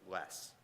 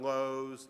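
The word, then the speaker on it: Loes: secret this it's pronounced less so um it's not it's not Lowe's it's less um Dan Les is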